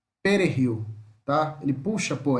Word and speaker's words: perejil: A salsa, nós podemos traduzir ela como perejil, perejil, tá? O J tem som de R, tá? Então, perejil, perejil, tá?